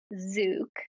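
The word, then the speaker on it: Zouk: So, it's pronounced zuk.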